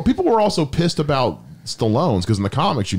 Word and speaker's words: Stallone: all that i guess it's stallone rhymes with alone um which he's going